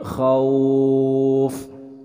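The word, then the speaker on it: خوف: Nah, kemudian dalam pelafalan huruf kha, ini banyak yang sering juga salah dalam pelafalan huruf kha, dibacanya ho, min khauf. Padahal kalau kha itu tempat keluarnya kha, gha itu dari ujung tenggorokan. Kha, min khauf.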